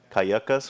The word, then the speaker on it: Cayucos: I like how Coach pronounces Cayucos. It's Cayucas for him, or...